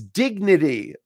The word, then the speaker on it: dignity: Mine is dignity. Moshe, that's good. Dignity. The T is a voiced, flapped D, ding, ding, ding.